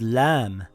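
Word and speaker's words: لام: Lam makes a similar sound in English to the letter L in the word lion or the word lamp.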